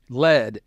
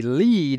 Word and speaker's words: lead: to pronounce lead magnet lead in this case is pronounced lead with a long e but the reason I